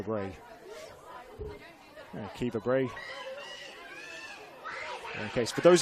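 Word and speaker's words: Caoimhe: It is pronounced Kiva. It's a good old-fashioned Irish name.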